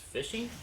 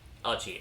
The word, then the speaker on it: Achi: But yeah, K-Prime has taken out Agent Gold's final stock, then goes on to battle against Fishy, I believe? Achi, okay. I got the last syllable kinda correct, though.